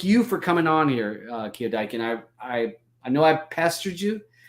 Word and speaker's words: KioDieKin: So I just want everybody to check out the link down below to KioDiekin. KioDiekin. I'm going to say it right at some point and stop putting an extra K in there.